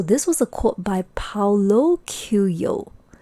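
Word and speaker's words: Paulo Coelho: first place so this was a quote by paulo kyuyo paolo que yo yes so i actually searched how to pronounce his name to get it right so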